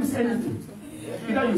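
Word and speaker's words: Eniton: anything can happen. Yes, her name is Anything.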